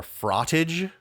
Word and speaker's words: frottage: with some jousting uh it's called frot or frottage rhymes with cottage oh why would you